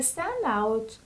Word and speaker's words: standout: The stress of this word is on the first syllable. Stand out, stand out, stand out.